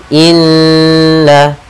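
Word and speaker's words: إنّا: fahum muqmahun pada bacaan Inna di sini ada lafal Nun bertasydid kita namakan dengan bacaan gunah atau hukum tajwidnya kita namakan dengan gunah cara membacanya adalah kita menahan suara nnya dua harakat Inna kemudian na pada lafal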